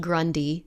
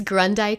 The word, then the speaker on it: Grundei: rest of my life, and it would be pronounced Grundei for the rest of my life. And I have found both to be true. So it's Grundei Coaching, which is spelled Grun as in Nancy, D as in dog, EI.